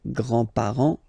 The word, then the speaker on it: grands-parents: Remember, you don't pronounce this final S here, grands-parents, okay?